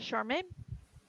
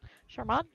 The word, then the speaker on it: Charman: four to get to charmain charmon sorry I'm saying it wrong charman that's a softer tissue